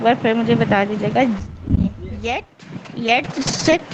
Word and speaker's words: jetzt: German course में हूँ इसमें जो ये जी JETZT लिखा हुआ है इसको प्रोनाउंस करना चाह रही थी इसको जरा एक बार फिर मुझे बता दीजिएगा येट येट सेट हाँ jetzt नहीं क्या हो गई